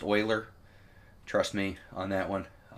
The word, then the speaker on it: Euler: there project Euler right here it looks like Euler it is pronounced Euler trust me on that one and what it